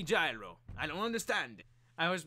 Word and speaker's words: Gyro: he was always like these these stupid Americans they don't know how to pronounce Giro they always call me gyro I don't understand I